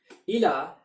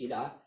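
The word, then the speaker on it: إلى: And notice that the ya at the end, which is not pronounced in ila, does take on a saakin and changes the sound of the word when we connect it to this pronoun.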